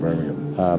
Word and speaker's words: Birmingham: They say Birmingham. Birmingham, is that what they say? Birmingham. Okay, but see, I emphasize the ham bit, I have to do that.